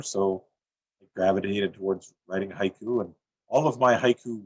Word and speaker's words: haiku: The word haiku itself, we count it as 2 syllables, haiku. But in Japan, it's counted as ha-iku, 3 sounds.